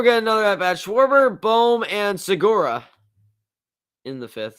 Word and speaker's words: Bohm: You pronounce it Bohm, not Bomb.